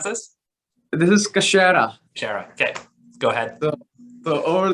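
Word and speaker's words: Kachera: the pronouncement on this so how do you pronounce this this is kashira okay go ahead so over this kashara it's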